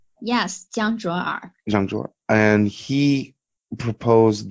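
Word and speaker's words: 江卓尔: top mining pool founder, I think I always mispronounce his name, but I believe it's Jiang Zhuoer. Is that right? Yes, Jiang Zhuoer.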